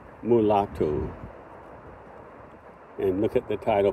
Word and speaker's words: mulato: to learn Portuguese and I would say Figo previously but um the O should be pronounced as U so figu mulatu and look at the